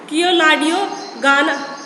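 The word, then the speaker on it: Keoladeo Ghana: से कह सकते हो, हिंदी में इसको बोलते हैं केवलादेव, बट इंग्लिश में इसका थोड़ा सा उच्चारण थोड़ा सा अलग है, किएलाडियो गाना. तो इसके दो नाम है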